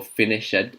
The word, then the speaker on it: finished: I've heard it being pronounced stopped, or watched, or finished. No. This one is pronounced stopped.